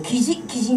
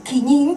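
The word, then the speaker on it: 貴人: 起人じゃなくて起任と読みます。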